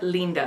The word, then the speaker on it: Lynda: she's called linda and i know a lot of people are going to pronounce it linda but i've been to france and it's spelled like the french spell it so i'm going to call it linda because that's how they would pronounce it call me pretentious but